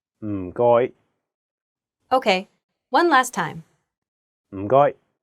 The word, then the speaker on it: 唔該: The first character is in a very low tone, fourth tone. It sounds a bit like when someone is thinking about a plan and they say, Notice that there is no vowel in this syllable, so you have to really stress the sound. And then the second character is in a high flat tone, first tone.